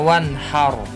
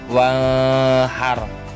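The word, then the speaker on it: وَانْحَرْ: Jadi contoh selanjutnya fasholli li rabbika wanhar. Nah, itu wanhar, nggak boleh dibaca wahar karena itu adalah nun sukun bertemu dengan ha, termasuk bacaan idhar.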